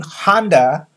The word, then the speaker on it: Honda: Well, the company name Honda is in English two syllable. English speakers will say Honda. I'm driving a Honda. Honda. Honda. Okay. But in Japanese, it's three more.